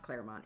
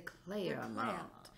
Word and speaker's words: Clermont: the Clermont the clam it's multiple syllables it's not just two you can't just make Clermont it's not the Clermont it's the Claire around yeah that's it um